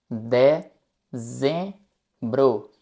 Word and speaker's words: dezembro: De zem bro. De zem bro. Dezembro. Quem fala espanhol, atenção com a letra z. Não é de cem. É de z de z dezembro.